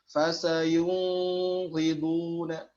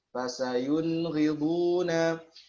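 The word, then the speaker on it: فسيغضون: Nah, dikatakan oleh Ustaz Abu Hibban di sini seringkali terjadi kekeliruan, yakni membacanya dengan ikhfa, Bagaimana? Fasayunghiduna, ya ini hati-hati ya. Hati-hati karena cenderung dalam pengucapan izhar adna, yaitu nun mati ketemu ghain dan kha, cenderung mepet ikhfa atau sudah jadi ikhfa. Fasayung, ya hati-hati. Tetap izhar saja.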